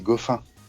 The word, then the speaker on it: Goffin: Si, c'est Goffin. Ah c'est Goffin, c'est sûr. Ouais. Ça se prononce à la française alors. À la belge.